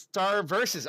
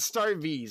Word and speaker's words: Star vs.: It's pronounced Star Versus. Okay, cool. Okay. So not Star Vs.